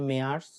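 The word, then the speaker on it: März: March হচ্ছে মেয়ার্স।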